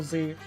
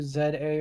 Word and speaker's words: Z-A: In in Japanese, the name is represented as Zetto A, which translates to Z A or ZA, reinforcing the letter by letter pronunciation. Alternative, some users in the UK/Commonwealth may pronounce it as Z A.